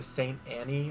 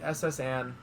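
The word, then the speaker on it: S.S. Anne: I have a friend that calls the SS Anne the Saint Annie or something. And I'm like, no, it's the SS Anne.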